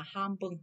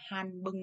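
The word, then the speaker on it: ハンバーグ: Thì âm in này chúng ta sẽ đọc là m chứ không có đọc là n nha. Cho nên chúng ta sẽ đọc là ham bừng chứ không phải là han bừng nha.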